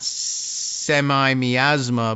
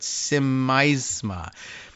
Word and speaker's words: Simaisma: Simaisma, not semi-miasma, but Simaisma.